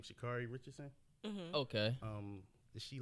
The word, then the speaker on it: Sha'Carri Richardson: Sha'Carri Richardson.